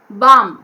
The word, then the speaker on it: bomb: n soften okay soften bomb b a liam bam l is silent here b a gallium bomb we don't say balm okay wrong bomb we have to say bomb knees okay knees k is